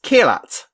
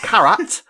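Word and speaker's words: Kheerat: stop mispronouncing kirat's name it's kilat not karat thank you and i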